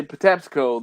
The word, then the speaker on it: Patapsco: So I want to say the reason I say Patapsco the way I say Patapsco is because of how people pronounced it.